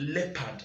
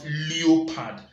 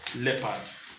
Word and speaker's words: leopard: profiting importers of it in this world is pronounced as the leopard and not blue pad it is pronounced leopard now quick one that most of us who